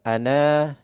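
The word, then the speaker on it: أنا: Ana itu kan ana baca ada alifnya kan? Ya. Ana iya. nadhirun misalkan begitu. Itu alifnya nggak dianggap kan, makanya ada sifr. Kalau misalkan ana di Al-Quran pasti bacanya pendek.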